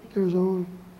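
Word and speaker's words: Girzone: Father Joseph Kirzon, by the way, you pronounce his name, Kirzon.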